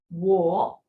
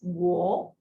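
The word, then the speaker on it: 我: with me this is war war in character is being written in this manner what that means i walk w is an initial o is the final and the tone so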